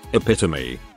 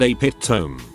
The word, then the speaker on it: epitome: always thought there were two different but similar words epitome pronounced how it is and a pit tome i figured i had